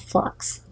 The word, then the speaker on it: f.lux: Also, for Macs, PCs, and Android devices, there's a program called Flux, and it's spelled F.LUX.